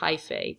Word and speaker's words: hyphae: The body of a fungi is made up of many hyphae, that's how you pronounce this word, hyphae, tangled together into a thick mass called a mycelium.